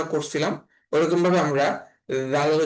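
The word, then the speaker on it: د: তো এই দালের উচ্চারণটা অনেক নরম হবে, এবং দালের উচ্চারণটা করার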